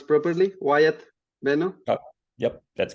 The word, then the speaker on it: Wyatt Benno: I pronounce properly, Wyatt Benno? Oh, yep, that's correct. Wyatt Benno is correct.